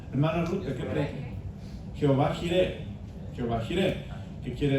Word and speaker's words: Jehová: Y estas 4 consonantes después se les dieron vocales para poder pronunciarlas, y de acuerdo a la pronunciación en alemán se cambió la Y por J, por eso decimos Jehová.